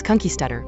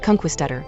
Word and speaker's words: conquistador: in the United States for the word Conquistador is ky stutter with the accent on the keys syllable but as this video of procal Haram performing its song Conquistador in 1977 demonstrates Gary Brooker the bands English lead lead singer pronounces the word conquist stutter with the accent in the Quist syllable this it seems to